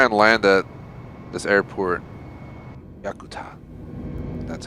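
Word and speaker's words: Yakutat: about to try and land at this airport yakuta that's how you pronounce it center airbus tango golf sierra is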